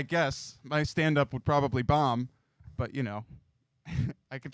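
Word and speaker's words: Baum: the scientific unit ohm now if it was spelled b-a-u-m okay that's bomb or bomb or yeah it's boom anyway I should change it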